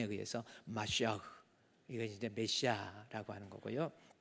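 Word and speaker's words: משיח: 그래서 메시아도 마시아흐 해 가지고요.이 모음의 발음에 의해서 마시아흐 이거 이제 메시아라고 하는 거고요.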